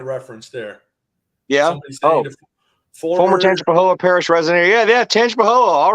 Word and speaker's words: Tangipahoa: Yeah, that was that is pronounced Tangipahoa.